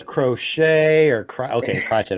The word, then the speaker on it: Crotchett: afraid to say it it's crotchet crotch it okay I didn't know if it was crochet or cry okay watch